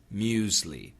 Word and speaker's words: muesli: But Jed, the safe pronunciation is muesli, muesli, with a Z sound, muesli.